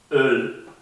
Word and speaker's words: Öl: Esta es una mezcla entre una O y una E. Entonces ponemos la boca como si estuviésemos pronunciando una O pero pronunciamos la letra desde más atrás, como si estuviésemos pronunciando la E.